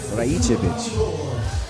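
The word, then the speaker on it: Rajčević: Oh, Rajicevic. That's the right way to say it.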